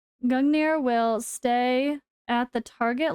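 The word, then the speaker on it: Gungnir: target hit G gungir gungir sorry not I was adding an extra syllable gungir will stay at the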